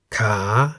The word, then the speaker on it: ขา: Ka, meaning leg, and kan, meaning bowl, each has one live syllable that begins with a high class consonant called kai and is therefore in the rising tone.